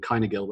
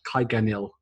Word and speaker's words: Kyganil: alongside her Harlequin companion, Kynagil there, or Kyganil, sorry, that's how you say his name, who is sort of